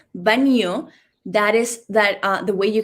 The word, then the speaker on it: baño: So this sound could be like, you can try it as B-A-N-I-O. Yes, that is baño.